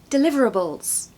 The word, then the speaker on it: deliverables: or three years personally so it starts with a schwar as many words do duh okay du now